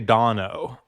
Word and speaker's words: Dano: And also good for a tomato name, Paul Dano or Paul Dano. How do you say it? And is he hot? Yeah, it's actually Dano. It's a secret third.